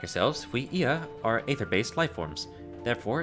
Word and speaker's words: Ea: When the vibration of vocal folds was still required to convey our thoughts and intention, Ia, I believe was the pronunciation used when referring to our people.